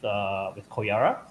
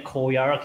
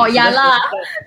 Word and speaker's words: Koyara: You do know that not a lot of people can pronounce R, right? So you see, yeah, exactly. Koyala, Koyala.